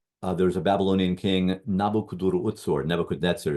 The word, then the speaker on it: Nebuchadnezzar: Nebuchadnezzar is how we pronounce it.